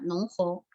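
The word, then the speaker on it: 侬好: Por ejemplo, ni hao es en chino mandarín, pero en shanghainés sería nong hou. Nong hou es la pronunciación de shanghainés para saludar.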